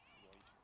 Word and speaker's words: Reuter: Reuter? I'll try to remember that. It's like R-O-Y-T-E-R. Okay. Reuter.